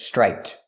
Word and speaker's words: striped: This word is striped, with a T at the end for the ED.